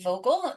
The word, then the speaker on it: Vogel: Hi everybody, welcome to the Books Brews Dogs Indie Author Spotlight podcast, and I am here with author Amy Vocal. Is that how you pronounce that?